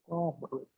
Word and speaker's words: conglomerate: Conglomerate. Yeah. What? Conglomerate. So the stress is on conglomerate. Conglomerate.